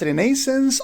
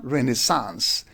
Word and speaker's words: Renaissance: So the word may be pronounced as renaissance or renaissance. In British pronunciations we pronounce it as renaissance while in American pronunciation we pronounce it as renaissance.